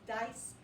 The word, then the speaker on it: dice: it does the same the first vowel speaks he says his name the vowel says i and the word is dice the vowel says i